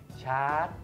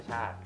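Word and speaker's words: ชาด: เนี้ย อ่า ไนเจอร์ มาลี ชาร์จ อ่า เขา อ่าน ว่า ชาติ จริง ๆ เ อ่าน ว่า ชาติ ซูดาน ซูดาน ใช่ ๆ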